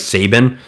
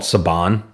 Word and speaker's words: Saban: with Power Rangers and sometimes I will mispronounce something like Sabin or Sabin but it's I think it's called Saban uh which it is I know that um